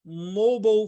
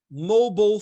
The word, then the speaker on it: mobile: Depois tem o mobile phone. Mobile phone. Ó, mobile é o inglês americano e mobile é o inglês britânico.